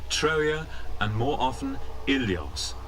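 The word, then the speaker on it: Ilios: troja and more often illios originally pronounced williams now in this general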